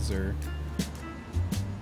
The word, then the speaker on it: xir: I know that XIR is the other one, and it's Zer.